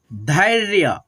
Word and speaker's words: धैर्य: ये जो होता है ना रेफ की मात्रा होता है, आधा र है तो र को हम लोग पहले उच्चारण करते हैं, जैसे य पे लगा है ना तो य से पहले उच्चारण करेंगे, इसका नियम यही होता है तो पढ़ेंगे धैर्य, धैर्य, ठीक है।